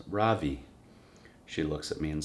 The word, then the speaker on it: Ravi: voice quivering a little my name is not ravi it's pronounced ravi she looks at me